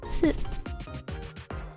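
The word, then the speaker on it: つ: So as you can see here, T and tu does not exist in Japanese. Instead, they have T and tsu, which even though there is a C, does not belong in. It does belong in the T hinagana zone, if you can say it like this.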